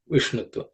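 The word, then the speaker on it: विष्णुत्व: So the sha has to be pronounced with tip of the tongue pointing towards the roof of the mouth because it's a cerebral sh. Okay, Vishnutva.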